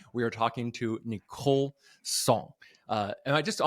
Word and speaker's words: Tsong: Uh today we are talking to Nicole Song. Uh and I just I want to make sure is that the right uh pronunciation?